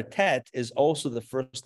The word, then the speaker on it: Tet: 11a is the letter tests or the letter tet the way we're going to pronounce it in this um in this course